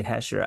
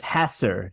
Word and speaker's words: Hesser: group that's why I always want to say hher I think there was like a there was a rock group called hher I like hher better but the correct pronunciation of Chad's name is hasser hasser drywall and out of Newton Illinois pearl of